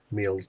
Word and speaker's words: Meols: 4:30 in the morning, and I'm on the Wirral, but I've arrived at Meols Beach, Meols, I think we pronounce it locally, and it's pretty dull and interesting.